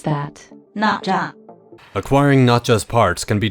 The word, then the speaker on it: Nezha: How do you pronounce that? Nezha.